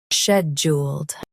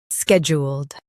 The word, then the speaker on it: scheduled: Now, let's focus on British pronunciation of this word, scheduled. Now, read the syllables of British pronunciation shown on the screen naturally. Ske, joled, scheduled, ske, joled, scheduled. In US, say shed. In UK, say ske.